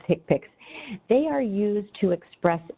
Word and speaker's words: HCPCS: annually on October 1st CPT and hick picks HCPCS pronounced tick picks they are used to